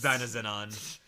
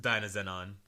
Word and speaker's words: Dynazenon: You said you don't pronounce the S's in the title, You don't right? actually pronounce the S's, apparently. All right, it's like a holic. So you would think that it's Dynazenon, but it's actually just Dynazenon.